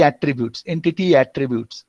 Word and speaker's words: attribute: Here, we are telling here the records fields, tuple attributes. As a noun, attribute is pronounced with emphasis on the first syllable as opposed to attribute. Attribute, which is a verb.